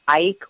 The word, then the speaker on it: Icke: His name was David Icke, or David Icke, is spelled I-C-K-E.